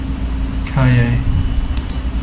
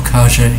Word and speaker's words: Calle: Calle or Calle, depending. I did like a month of Spanish language lessons in Chile, and was taught to pronounce the double L as sorry, Calle, but it can be Calle, depending. Very unsure about this.